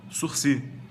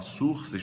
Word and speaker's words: sursis: escreve suris suris tá se escreve assim mas a pronúncia a palavra de origem francesa fala-se surc não é português nem latim para falar surs nem sursis também não é inglês para você